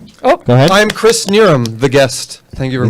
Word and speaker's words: Knierim: It's Knierim. Just Knierim. Like I'm near him.